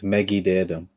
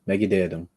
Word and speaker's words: Mekite'tm: So this is thanks to Mello for the pronunciation. So help me out. So you say it first, Brennan. It's Mekite'tm. Mekite'tm. Mekite'tm.